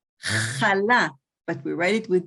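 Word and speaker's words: חלה: When every Shabbat we buy a challah, you guys, we pronounce the het like the European Jews did, and most of Israel today, challah, but we write it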